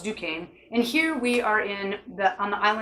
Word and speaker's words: Duquesne: This is called Duquesne, which looks like Duquesne, but it's pronounced Duquesne.